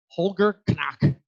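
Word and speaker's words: Holger Knaack: is incoming ri president Holger Connect speak I mean that's how you say it in German Holger connect speaking briefly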